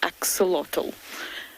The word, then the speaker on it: axolotl: and if you've never heard of it before it's spelled e x o l o t l axolotl please google it it's really entertaining and while